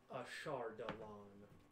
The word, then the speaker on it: Ashardalon: If we could phonetically. Ashardalon. Phonetically. Ashardalon.